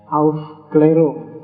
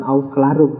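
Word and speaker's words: Aufklärung: Biasanya tulisannya ofclerung itu A yang tengah itu ada titiknya dua di atas bahasa Jerman bacanya auf keliru. Jadi ndak bukan auf kelarung tapi kamu baca kelarung juga gak apa-apa.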